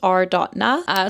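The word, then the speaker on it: Are.na: I'm just going to say arena, but it's r.na.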